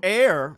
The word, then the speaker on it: Eyre: So Eyre is how you pronounce my last name.